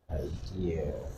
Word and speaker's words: idea: Idea. Huh? Is there L there? There's no L.